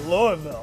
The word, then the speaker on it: Louisville: And you're saying it right, Louisville.